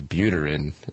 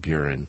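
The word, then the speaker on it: Buterin: when I mentioned metallic his last name is butor in not buren like I had mispronounced the creator creator of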